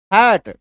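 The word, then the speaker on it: hate: हैट। ठीक है? Double एकार की मात्रा। ठीक है? क्लियर है? एच ए टी ई शब्द के लास्ट में इ का उच्चारण नहीं होता है।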